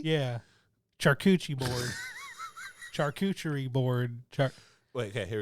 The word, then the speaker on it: charcuterie: do I pronounce it I break it down char No no no not Char Char you can't remember I'm working with a disability I have a disability too char yeah go Shar coup foreign charcuterie charcuterie